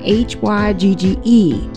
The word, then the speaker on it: hygge: It was spelled H-Y-G-G-E, and I've never heard of that before.